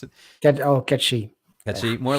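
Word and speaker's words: gacha: like uh more like kate sith's uh sorry ketchie is how you pronounce it oh catchy that's more like i know a lot of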